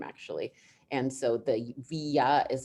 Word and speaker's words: Vija: we should probably start it's pronounced via i know it looks weird because it's v i j a but the j is like have you ever seen tonya with a j maybe there's a tonya